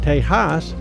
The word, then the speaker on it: Tejas: In the Spanish of that era, a J and an X made a similar H sound when spoken.